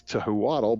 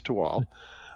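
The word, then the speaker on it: Thuatl: project is called toal it's spelled t h u a TL which would probably make it I think it's toadd but it's not it's toal um and it is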